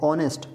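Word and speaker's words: honest: यहां पे भी देखिए एच भले एक व्यंजन है लेकिन साउंड यहां स्वर है ऑनेस्ट ओ आ हमने कहा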